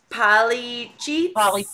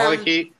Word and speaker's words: polychaete: Polycheats. Polycheats. So I have some... Polychaete. Polychaete. Thank you. See, when I hear it, I know it. But if you write it, I'm like, what? All right. So, polychaetes.